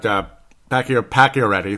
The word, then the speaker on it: Pacioretty: But Pacioretty, that's how they say it.